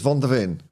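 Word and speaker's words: Van de Ven: anyone else said vonin people can't even say his name right I keep on saying it wrong well as well it's Von dein um so you don't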